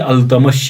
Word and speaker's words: Iltutmish: का है वो अल्तमश, इसका जो टाइटल हकीकी प्रोनाउंसिएशन इसकी अल्तमश है।